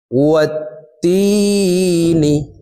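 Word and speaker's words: والتين: ওয়াত-তিনি ওয়াত-তিনি। ওয়াও গিয়ে এই তাসদিদওয়ালা তাকে ধরবে, ওয়াও তা জবর ওয়াত, তা ইয়াজের তি, তি এখানে এক আলিফ টান, জেরের বাম পাশে জজমালা ইয়া মদের হরফ, ডান দিকের হরকতকে এক আলিফ টানিয়া পড়িতে হয়।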